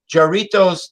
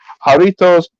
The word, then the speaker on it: Jarritos: could have one which i i thought tamarind jorito's tamarind is really good yeah well i saw